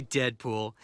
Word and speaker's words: Deadpool: أول تقرير في القناة سوف يكون عن فيلم Call me Deadpool. It rhymes with no school. Too cool, ain't no fool, and I'm the best that there is at what I do.